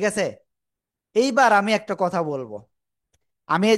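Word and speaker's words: ب: শিখলাম বা অক্ষরটা শিখলাম কি অক্ষর বা দুই ঠোটের ভিজা অংশ থেকে উচ্চারিত হয়। বা ক্লিয়ার।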